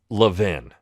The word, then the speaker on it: Levin: Twitter historian named Kevin Levin. Now, I often joke and say Kevin Levine. It drives him nuts. I get his name wrong on purpose.